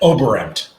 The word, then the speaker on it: Oberembt: we've got with us paul reed and eric obront did i say it right eric i get it i don't think anybody pronounces that name crazy how do you say it over amped overripped uh got it that time yep i